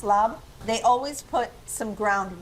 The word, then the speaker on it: larb: Lob, I always called it larb because it's spelled a l a rb, but it's pronounced lab.